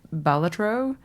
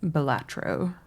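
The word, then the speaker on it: Balatro: I think it's Bellatro, right? But whatever. Every I' I've heard I feel like when I've heard Americans say it, I've heard bolatro and when I every Australian friend that I've heard say it has said bilatro or bilatro.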